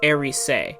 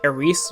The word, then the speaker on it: Erice: where our main character, now it's pronounced in Japanese, Erice, like spelled out E-R-I-S-E. So I'm going to call her Erice. I like Erice more.